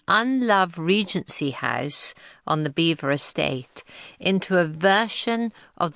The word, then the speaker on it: Belvoir: The name means beautiful view in French, and the locals, who no doubt took a dim view of this unenglish name, pronounced it beaver, which is how it has been known ever since.